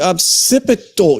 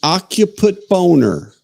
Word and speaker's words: occipital: I don't think it's called the occiput. Chat, you're gonna have to. And it's definitely not called the occiput boner. How do you pronounce? I believe it's occipital. The occipital, yes, the occipital.